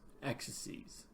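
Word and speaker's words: axes: see our X's ease someone asked me do you really pronounce plural exodus X's ease that's the way I've always heard it alright and there's our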